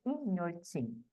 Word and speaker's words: Inhotim: ser mais o proprietário o senhor Tim ou notim como o povo chamava ele A Fazenda Manteve o nome né intim se pronuncia intim e quando chegou a